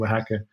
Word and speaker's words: Oaxaca: But the way it's pronounced is Oaxaca.